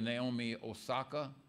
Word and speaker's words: Naomi Osaka: And in the news just last week, I heard them talking about a professional tennis player, Naomi Osaka.